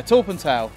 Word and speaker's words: Torpantau: So we've just reached the terminus of the station, and we think we know how to pronounce this. Torpantau. Is that correct, sir? Torpantau?